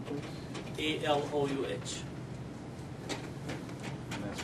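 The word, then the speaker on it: Allouh: A-L-O-U-H. And that's pronounced?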